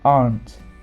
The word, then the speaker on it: aren't: It's one sound. Some people think it's two.